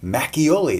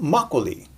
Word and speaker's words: makgeolli: pronouncing this word and you're going to pronounce it mackey oli not makgeolli.